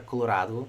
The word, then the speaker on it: Colorado: vez da palavra father, pronunciamos o A na palavra Colorado como a, Colorado.